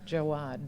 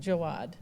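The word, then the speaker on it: Jaouad: So, it's the book of alchemy, a creative practice for an inspired life and it's pronounced sulea. Sulea. Sulea. Jawad. Jawad.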